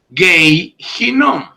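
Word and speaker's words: גיא הנום: Gei Hinnom.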